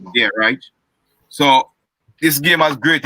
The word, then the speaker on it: Reich: Colts coach is Frank Reich or Reich, or is pronounced Reich.